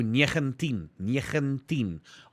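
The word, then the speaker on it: negentien: think 19 will be 19 it starts off with nine but because it's afrikaans we go negantin almost that n is almost silent oh okay cool now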